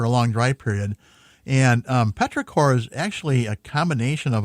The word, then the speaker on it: petrichor: Is it Petrichor? Say it again. Petrichor.